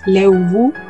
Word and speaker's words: Leubu: Leubu, hay distintas pronunciaciones dependiendo del lugar. Por ejemplo, en Alto Biobío se pronuncia más como una B, Leubu, pero más al sur o en la zona de Temuco se pronuncia como una F, Leufu.